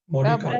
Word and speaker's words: Mordecai: Mordecai.